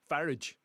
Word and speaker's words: Farage: That's why we've got That's why we've got leaders like Farage. Very European name. If it was British, it'd be pronounced uh Farage, like Garage, you know.